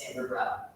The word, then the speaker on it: Samvrit Rao: on LinkedIn as well, saying my name is Samvrit Rao.